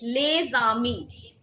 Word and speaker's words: les amis: So here in this case, we carry forward the sound of alphabet S along with the alphabet A. That is why we call it les amis.